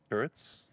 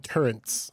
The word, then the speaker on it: turrets: what are those called earths yes but there are people that call them turrents with an n yeah yeah i know